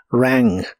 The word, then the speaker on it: rang: el pasado es rang la a de esta palabra se pronuncia con el sonido que es la combinación de e y a rang rang y lo puedes